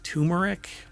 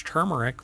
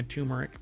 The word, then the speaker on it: turmeric: lot of people pronounce turmeric but it's not and I've had people when I say it's turmeric with an r and they're like there's